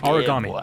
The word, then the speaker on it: Aragami: We start the game off with some lady mispronouncing the name of this game. It's Aragami, Lakin lady.